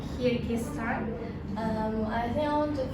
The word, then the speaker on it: Kyrgyzstan: And yeah, in conclusion, Kyrgyzstan is best for people who enjoy adventure, nature, and peaceful environment.